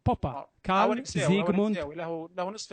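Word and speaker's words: Popper: هو اصلا ن مساوي ف تنطق بالانجليزيه بوبر لا لا هو اسمه الماني ليس انجليزي هو بوبا كساوي نمساوي له له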